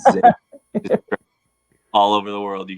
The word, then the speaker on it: Xavier: I'm like, "Listen, dude, it's Xavier."